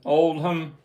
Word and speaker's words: Oldham: the Rolling Stones with their manager Andrew Olam, however you say his name right. O D H A M Oldham.